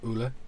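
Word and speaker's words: Ole: wisdom norwegian name uh it's felt o-l-e so oola how they pronounce it norwegian and i called him ollie and everyone's looked at me and burst out laughing one of my my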